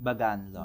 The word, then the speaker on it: Bagan Lodge: How do you pronounce it? Bagan Lodge.